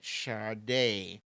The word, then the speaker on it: Sade: wrote safe pretty sure you're meant to write charday and it's he's pronounced Char day s-a-d-e charade Tracy M Chacha